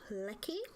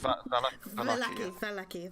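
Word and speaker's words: Vallaki: And so you set out from the village of Lecky, I do believe and pronounce. It's Valaki, thank you.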